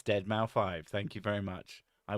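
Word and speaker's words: deadmau5: And yes, I know how to pronounce Deadmau 5. It's Deadmau 5.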